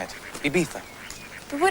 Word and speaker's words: Ibiza: Ibiza.